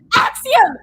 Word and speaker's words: Axiom: Axiom! Say it right! It's not Axl Rose!